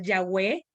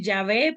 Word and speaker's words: Yahweh: de Dios Debería ser Yahweh algunos lo pronuncian Ya ve pero el más cercano Debería ser Yahweh el más cercano al nombre original y cosas como estas